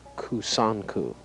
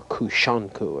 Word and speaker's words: Kusanku: kanta this form was originally known as kusanku or kushanku another pronunciation you can see